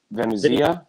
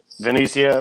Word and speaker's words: Venezia: and also the Mike I think it's pronounced Venezia. Yeah. Venezia Memorial Award, which I find